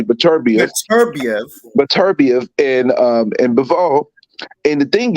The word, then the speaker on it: Beterbiev: Let me pronounce his name correctly. Beterbiev and Bivol.